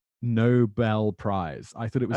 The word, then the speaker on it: Nobel: And I pronounced the whole thing like the Nobel Prize. And then someone was like, I think it's Nobel. Yeah. And it is, because it's named after Alfred Nobel.